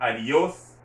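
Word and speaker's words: adiós: attention to the pronunciation adios you hear me stressing that o because an accent is over the o or you want to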